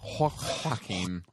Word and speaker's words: Joaquin: It's Joaquin.